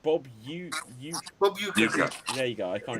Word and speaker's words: Uecker: Bob, Kane, I can't even remember how this is pronounced. Bob Bob Uecker.